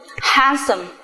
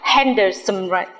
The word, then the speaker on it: handsome: số từ ví dụ handsome handsome chúng ta không hề đọc là handers chúng ta chỉ đọc là handsome tiếp theo chữ H